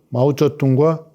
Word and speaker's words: 마오쩌둥: 총리를 오래 한 주얼레, 중국 발음으로는 마오쩌둥과 조우얼라이.